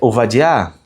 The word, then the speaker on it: Ovadia: Primeiro, tá aí, ó, na pronúncia ovadiar.